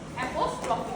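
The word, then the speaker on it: apostrophe: हम are silent रहेगा क्योंकि आर को प्रोनाउंस नहीं करना है। शॉर्टन फॉर्म बनाने के लिए जब जो मार्क जो साइन हम यूज करते हैं उसको हम बोलते हैं एपोस्ट्रोफी।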